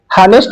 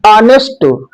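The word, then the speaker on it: honest: और अब हम एन के विषय में ऑनेस्ट इसका जो प्रोनाउंसिएशन है आ से होता है। प्रारंभ एच से अवश्य हुआ है। बट इसका प्रोनाउंसिएशन हमेशा आ से किया जाता है। ऑनेस्ट हैनेस्ट नहीं ऑनेस्ट तो जब ऐसी कंडीशन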